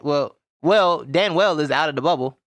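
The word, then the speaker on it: Danuel: house of the houston rocket dan well house dan well yeah this is pronounced stan well okay yeah all right well well dan well is out of the bubble he got kicked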